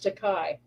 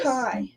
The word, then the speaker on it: Takei: A lot of people say George Takei. And Marina Sirtis instead of Sirtis. Takai.